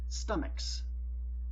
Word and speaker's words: stomachs: In some words, CH can be pronounced like K. Stomach, not stomach. A word pronounced stomach does not exist, but would be pluralized as stomaches. But it does not exist. Our word is pronounced stomach, a K sound.